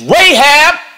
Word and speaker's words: Rahab: not getting knocked off is Rahab which rhymes with aab and her family those